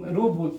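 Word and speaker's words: ρ: अब ये जो रो हमने लिखा यहाँ पे, इसको रो बोला जाता है, इसका प्रोनाउंसिएशन रो होता है, और ये इसका सिंबल है, और इसको हम लोग कहते हैं इलेक्ट्रिकल रेसिस्टिविटी।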